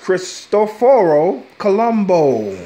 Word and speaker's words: Cristoforo Colombo: didn't what anyway yes it's pronounced Cristoforo Colombo that's what they call them in his his own countrymen yeah yeah he